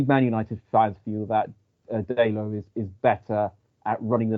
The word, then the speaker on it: Dalot: Right, for my first player pick, I am going to go for Diogo Dalot. Is it Dalot? Is that how you pronounce it?